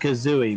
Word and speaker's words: Kazooie: God Bano K Kazo it's pronounced Kazooie Mr Mendo but that